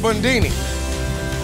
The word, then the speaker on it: Bundini: I'm called Bundini. Rhymes with Houdini.